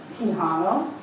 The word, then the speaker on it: Quijano: Quijano.